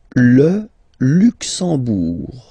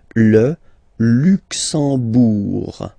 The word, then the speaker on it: Luxembourg: Le Luxembourg, okay, final G not pronounced, and then when you combine this M here, you get the sound en. You don't pronounce the M at all, it's this nasal en, okay? Le Luxembourg.